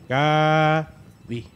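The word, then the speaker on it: 가디: Es la primera vez que tenemos una pronunciación sencilla para un Pokémon tan hermoso. Gabi. Gadi. Ah, Gadi. Gadi.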